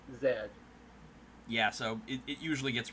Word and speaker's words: Zedd: Well, I mean, obviously, it's semantics where it's like the way Japan pronounces the letter Z is Zetto, and I guess a close English equivalent would just be Zedd.